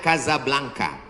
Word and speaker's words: Casablanca: Ibu kotanya tulisannya Casablanca. Cara bacanya Kazablanca.